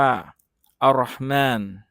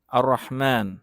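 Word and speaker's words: الرحمن: ต่อ ไป นะ ครับ คำ นี้ อ่าน ว่า อัเราะฮมาน อัเราะฮมาน นะ ครับ อัเราะฮมาน นะ ครับ วิธี การ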